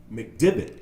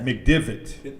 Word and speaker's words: McDivitt: McDivitt is what I'm going to say. Divot. I was thinking golf. Yeah. McDivitt.